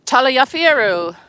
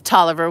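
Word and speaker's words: Taliaferro: This is one of those buildings that everyone pronounces incorrectly. Okay, so if you look at the name you might say this is Talafieru. This is Taliver. This building is Tolliver.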